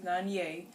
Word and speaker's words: Nonyea: my name is and that this is nanye my name is spelled n-e-s-i-t-a mine is spelled n-o-n-y-e-a now um